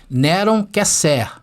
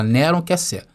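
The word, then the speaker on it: נרון קסר: E se pronuncia essa expressão, Neron Kesser. Tá bom? É assim que se fala, Neron Kesser.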